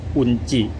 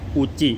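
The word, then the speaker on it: 宇治: นำ เข้า นะ ครับ เป็น ชา จาก เมือง อุนจิ คุณ พูด จี้ เนาะ อูจิ ขอ โทษ ที ทุก คน อร่อย มาก อร่อย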